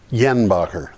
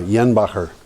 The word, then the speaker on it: Jenbacher: So I got a picture of uh the the GE Jenbacher engines. Yenbacher. That J is like a Y. Yeah. Yeah. Yenbacher.